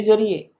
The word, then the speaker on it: Tsar: English में ऐसे लिखते हैं, TSAR भी आपको लिखा हुआ मिलेगा, कई राइटर CZAR भी लिखते हैं। जार जार स्पेलिंग यही है और प्रोनाउंसिएशन भी यही है।